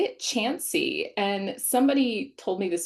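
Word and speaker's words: Chauncy: town near here that looks like it's pronounced Chanty. Like there's it C H A U N C Y. Um but you say it Chansy.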